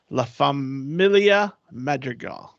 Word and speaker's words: La Familia Madrigal: will be transformed into a space reminiscent of La Familia Madrigal did I say it right Sophie you did